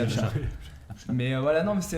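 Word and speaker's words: Apchat: Apcha, on est sûr. Apcha, c'est bon. Même si on ne sait pas tout le temps où c'est, mais on sait que c'est ça, c'est Apcha.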